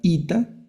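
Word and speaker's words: ήτα: Luego está la ITA, la letra ITA, que es como nuestra i, la i de iglesia.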